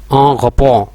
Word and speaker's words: en rapport: इसको यूं भी प्रोनाउंस करेंगे en rapport.